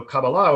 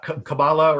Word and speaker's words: Kabbalah: in hebrew uh uh typically the the stress is put on the last syllable um so kabbalah would be a would